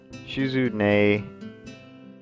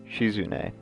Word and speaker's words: Shizune: Misha Misha is consistent laughter and second the pronunciation of this one I will get these down shizune she's a nice nickname is chic on she comes or shizune maka a class rep shizune all right she was an a's sweeping at